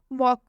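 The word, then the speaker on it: walk: वॉक, वॉक में भी के से पहले एल आया, और जब भी के से पहले एल आएगा तो रूल में बताया गया है एल साइलेंट हो जाएगा, तो इसलिए यहाँ पर एल साइलेंट हो गया है।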